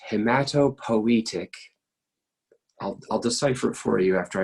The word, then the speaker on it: hematopoietic: this again in a and P 2 it's pronounced hamato poetic I'll decipher for you after I write it